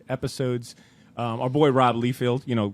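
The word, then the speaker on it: Liefeld: it out for yourself pronounce my name wrong and all that but it's all good it's Rob leefield all right I'm not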